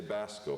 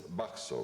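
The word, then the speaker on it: Bacso: Now, a lot of people say Basco because they can't say it right, but it's B-A-C-S-O, and it's Baxo, right?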